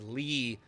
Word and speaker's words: Li: Is that I'm going to show you it's Lee, L-I.